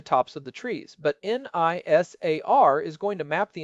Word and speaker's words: NISAR: I have heard it pronounced NISAR. It is.